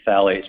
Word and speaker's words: phthalates: It looks like it'll be phthalates, but it's pronounced phthalates.